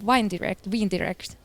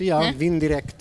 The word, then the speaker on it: Vindirect: But Janne, could you still tell me something about the Wine Direct, right? Did I pronounce it right? Yeah, it's Vindirect actually, where it originates from.